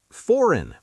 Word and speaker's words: foreign: Foreign. Pronounced foreign. That G is invisible.